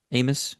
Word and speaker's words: Amos: Trey Amos, Amos, Trey Amos, I figured out that's the right way to say it.